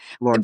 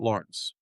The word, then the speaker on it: Lawrence: Lawrence, But there's media outlets who do call him Lorenz. But because you're the guy. but he told me he pronounces it Lawrence.